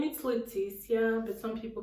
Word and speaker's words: Leticia: candy so let's start so my name is leticia but some people call me with this yeah something like that but i